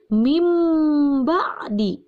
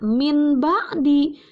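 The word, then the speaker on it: مِنْ بَعْدِ: harus berubah menjadi m Jangan dibaca Min ba'di tetapi rubah jadi m mimbadi Kenapa cara membacanya dirubah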